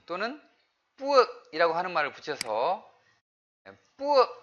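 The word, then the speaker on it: ពួក: 뿌억이라고 하는 말을 붙여서 뿌억 발음하실 때 주의하셔야 됩니다. 뿌억도 아니고 그렇다고 뿌윽도 아니고 그걸 어떻게 해야 되냐? 이 턱 높이를 가지고 조절을 해야 될 것 같아요.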